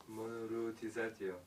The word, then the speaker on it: Monoruotizzato: Devastatio monoruotizatio. That's how you say it. MONORUOTIZZATO. Go on, Mario, pronounce it. MONO monoruotizatio. Monoruotizatio.